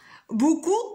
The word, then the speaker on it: beaucoup: Beaucoup, quelle est la lettre muette? Maîtresse. Vas-y, Ced. P.